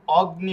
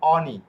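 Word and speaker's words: ogni: অগ্নি হবে না হ্যাঁ ইংরেজি ভাষা মত যদি অগনি পড়ি তাহলে হবে না এটা হবে অনি ওকে এটা হবে কি অনি ওকে কিন্তু এই চন্দ্রবিন্দু থাকবে অনি অনি না খেয়ে বেজে আসবে অনি ওকে এটা অগ্নি হবে না এরপরে এই যে জি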